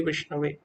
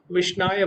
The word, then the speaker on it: विष्णवे: वदति विष्णाय धीरो वदति विष्णवे उभयोस्तु समम पुण्यम भावग्राही जनार्दना। तो जो मूर्ख लोग होते हैं वो विष्णाय बोलते हैं। विष्णाय वास्तव में सही उच्चारण नहीं है। क्यों? क्योंकि विष्णु का उच्चारण विष्णवे होता है।